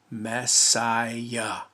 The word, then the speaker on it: Messiah: it today because in john's day it wasn't pronounced or spelled mo she ah it was messiah the s sound of the lower case sigma